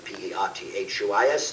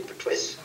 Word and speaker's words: Pertwee: Because nobody could pronounce the name Pertwee. They all called me Pertwis.